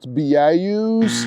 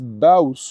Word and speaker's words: Baous: It's Baus, le Baus des Blancs, le Baus des Noirs. Just ba like battle and us like nothing, just us. Isn't French simple? There are 4 remarkable Baus in the backcountry close to the coastline.